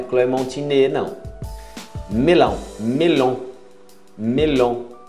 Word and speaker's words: melon: Melon. Melon. Cuidado, isso não é o tio no final, é O-N. Melon.